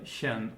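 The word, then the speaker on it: -chen: So, but then over here in this section they talk about this diminutive suffix shen, which is always pronounced with this sh sound, with the ich laut.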